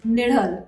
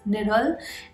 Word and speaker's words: Nizhal: the pronunciation is correct it is nidal right the zed edge is pronounced as her so the name of the film is nidal and the second trailer